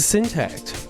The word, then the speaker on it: Syntakt: read the thumbnail title it's the syntax the mad lads at elektron have done it again they've given us a cool little box that's in a nice little rectangle that is spelled with the t-a-k-t and uh this time